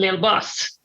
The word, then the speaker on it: Lilbus: Like a rapper called Lilbus. But it's Lilbus. Little bus. little bus.